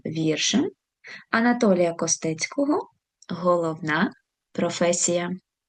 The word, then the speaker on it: професія: Професія. Звертаємо увагу наголос на другий склад. Професія. Наступне слово.